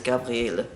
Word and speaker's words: Gabriele: Gabriel or Gabrielle, or in German it's Gabriele is the proper pronunciation. It only has one L and an E at the end, and because of the one L instead of two L's, a lot of people think it's male.